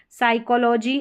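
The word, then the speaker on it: psychology: Number 12 पर है P silent P और एस के कॉम्बिनेशन में पी साइलेंट है यहां पर देखिए पी को नहीं पढ़ा गया साइकोलॉजी और यह है साइकिक।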